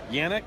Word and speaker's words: Yanick: Yanick. Am I saying it right? Yeah, absolutely.